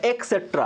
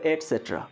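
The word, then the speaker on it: et cetera: মানে ইত্যাদি ইত্যাদি দেখবে অনেক অনেকেই বলে এক্সেট্রা এম আই রাইট ছোটবেলা থেকে শিখেছি এক্সেট্রা এটা কিন্তু সম্পূর্ণ ভুল প্রোনাউন্সিয়েশন অনেক টিচার আছেন উনারা বলেন এক্সেট্রা ওটা ভুল ওটা হবে এসেট্রা কি বললাম এসেট্রা যাই হোক এসেট্রা নিয়ে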